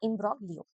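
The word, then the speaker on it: imbroglio: एंस्कॉन्स और इम्ब्रोगलियो, इसका सही प्रोनाउंसिएशन होगा इम्ब्रोगलियो, ठीक है?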